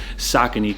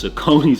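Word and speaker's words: Saucony: noise previously with his saky collaboration so much that I actually had to learn to pronounce this brand correctly for years growing up I was calling these joints sonone or whatever so with all of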